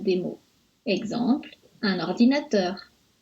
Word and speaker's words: ordinateur: Exemple, un ordinateur. On accentue un peu teur, ordinateur.